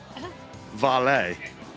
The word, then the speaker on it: Volée: if you want to make your mark, Volée. Volée. Volée. Did I say it wrong? Volée. Volée. Yeah, drop the E.